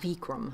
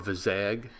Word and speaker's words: Vizag: Yes, not Vikram. No, or Vizag. Our friend at church pronounces it Vizag.